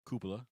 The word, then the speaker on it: Cupola: But it's the Cupola Project, or Cupola, actually is how it's pronounced.